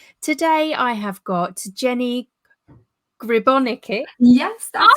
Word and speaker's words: Gribonika: Today I have got Jenny Gribonika.